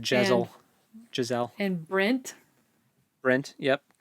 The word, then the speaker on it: Jezal: They said Giselle, so I have it spelled like the girl's name, and it's not spelled that way. No, it's Jezal. I thought it was like Jezel.